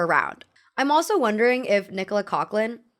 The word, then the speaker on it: Nicola Coughlan: I'm also wondering if Nicola Coughlan, I learned that's how her name is pronounced the other day.